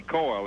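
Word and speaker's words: Cyle: yesterday is it Dr Coral or Coral I'm not sure doc how do you say your last name c y l e coil it's like boil or doy right and you um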